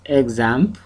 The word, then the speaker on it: XAMPP: major requirements and the first one is examp or exam okay depending on your pronunciation exam so this basically comes